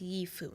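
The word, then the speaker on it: 衣服: The first character here is pronounced yifu, meaning clothing.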